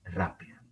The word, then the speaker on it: rápida: Rápida. Entonces, ustedes, perdón, se acuerdan de que rápido o rápida es una palabra esdrújula con el acento en la antepenúltima sílaba.